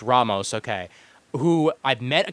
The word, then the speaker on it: Ramos: Rodney Ramos or Ramos, however you want to pronounce it. I always screw it up. It's Ramos, okay?